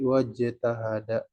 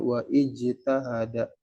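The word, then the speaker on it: اجتهد: juga dengan ijtahada I Iya dibaca nih ya alifnya dibaca ijtahada kalau dipisah jadi wajtahada eh k dipis kalau didahului oleh kata yang mendahuluin ada langsung wau ke Jim waj tidak wa enggak dibaca panjang atau enggak dibaca WA ijtahada gitu ya tidak dibaca WA ijtahada tapi wajtahada demikian juga dengan kata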